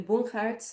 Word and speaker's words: Bonhart: Um my name is Bonhart uh pronounced in the Dutch way.